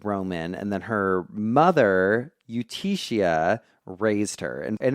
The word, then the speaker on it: Eutychia: It's e u t c h i a, Eutychia. Yeah, or Eutychia.